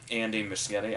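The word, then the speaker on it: Andy Muschietti: to have this and Andy Michigan I think is how you say every time somebody says that I hear it said a different way but I think I heard him say himself that it was that so did obviously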